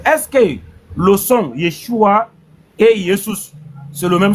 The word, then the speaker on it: Yeshua: Selon l'époque et la langue, on va dire Yeshua. Yeshua.